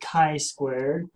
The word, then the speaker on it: chi-squared: put in my chi squared value which is pronounced chi squared six point seven nine and that right there